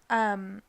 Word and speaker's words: Varicocele: Varicocele, I believe that's how it's pronounced. Correct.